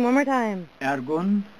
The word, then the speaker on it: Ergun: Ergun, E-R-G-U-N. Uh-huh. This is Turkish pronunciation.